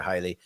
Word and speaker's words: Haile: It's like the English name Haley, but they pronounce it in Africa Haile.